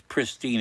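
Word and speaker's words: Presteigne: Ire pristine is spelled funny. P R E S T I G N E but it's pristine in Mid Wales.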